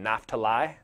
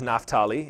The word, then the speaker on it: Naphtali: I grew up saying Naphtali, but it is Naphtali if you want to do it right.